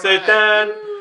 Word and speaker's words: Seitan: You said it right, Seitan.